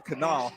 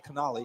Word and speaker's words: Canali: uh to uh raleigh canal canal oh it is canali okay i heard the pa announcer saying that's how i've been saying raleigh canali you've been saying it